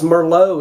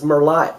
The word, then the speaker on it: merlot: down the same road as merlot is merlite no it isn't i love it when people say